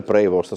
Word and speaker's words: Prevost: Il titolo Il papa americano, pace prevostetto con il nome di dovrebbe essere prevost se lo pronunciamo all'americana all'inglese.